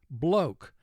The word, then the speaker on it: bloke: Here we have a silent E at the end of the word. The silent E serves as a signal that the first vowel is going to represent its long sound. We underline the E to indicate it is silent.